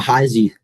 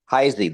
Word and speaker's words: Heise: Heis, how do you pronounce it? Uh, Heisy. Heisy.